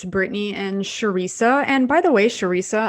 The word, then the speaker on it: Charissa: are mispronouncing your name so it is sharisa i think i always tell patients think teresa but add to the beginning so sharisa yes my mother was